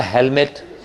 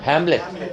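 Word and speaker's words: Hamlet: अब एक ने बोला हेलमेट, हेलमेट नहीं, हैमलेट। ये प्ले का नाम है, ठीक है। ये शेक्सपियर के प्ले का नाम है ये। क्या तुमने हैमलेट पढ़ा है?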